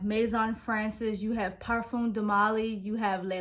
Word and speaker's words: parfum: I do call it a parfum because that is actually how you pronounce it. In American and in English, we say perfume, but it is actually a parfum.